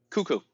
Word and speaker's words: Cuckoo: for uh I guess CUO is how you say it cuckoo like the clock okay yeah cuckoo yeah